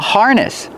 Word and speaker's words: harness: This is called a harness. Coco is wearing a harness. Harness. Pronunciation. Use the R sound like far in bar. Har. Harness. The stress is on the first syllable.